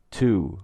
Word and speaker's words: tout: If we pronounce the 2 O's together in to out, it becomes a single word, tout, which in French means all, but it's also a homophone of the English pronunciation of the number 2, and deux in French,